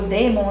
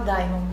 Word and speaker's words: daemon: O Daemon, né? Que se for pronunciar corretamente pelo latim, mas eu gosto de falar Daimon, não sei porquê.